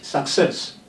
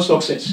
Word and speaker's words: success: Now, for example, and the word success, which some people call success. Of course, we don't have success in English. So it is indicated on the second C, starting the stressed syllable in the word.